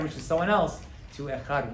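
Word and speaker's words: אחד: It's meant to be although the way we say let's, they probably isn't completely right, but echad.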